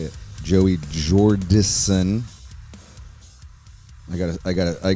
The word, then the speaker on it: Jordison: his name was jordinson i did not notice that there was not an n in his name jordison so i always said joey jordanson and somebody pointed out